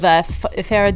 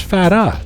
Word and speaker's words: Farah: You want to say it like Farrah Fawcett, like Farrah.